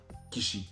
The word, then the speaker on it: Kishi: Yusuke Koshi. Kishi. Kishi.